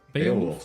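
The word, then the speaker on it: Beowulf: The starship Beaolf bundle. Is that how you say it? Bowolf.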